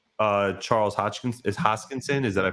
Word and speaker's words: Hoskinson: um I I do like uh Charles Hodgkin's hoskinson is that I pronounced that correctly yeah I do like him